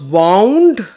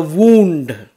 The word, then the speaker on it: wound: The bandage was wound around the wound. Wound is to tie, and wound is a hurt. The spelling is the same, the pronunciation is different.